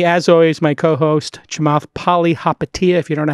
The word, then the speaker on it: Palihapitiya: With me, as always, my co-host, Chamath Palihapitiya, if you don't know how to pronounce it, Palihapitiya.